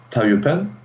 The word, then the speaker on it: Taiyupian: Specifically, sorry if I pronounce it wrongly, Taiyupian films.